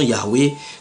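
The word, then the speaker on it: Yahvé: qu'il il s'inclineent à considérer la prononciation Yahwé euh comme la forme la plus correcte il dit ils sont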